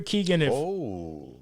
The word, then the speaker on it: Keoghan: Yeah, it's Keoghan. Yeah, okay, Keoghan. It's spelled in a very weird way. Yeah, it is. It's a weird Irish way. Barry Keoghan is the Joker in the Batman. And Barry Keoghan, if you are not familiar with who Barry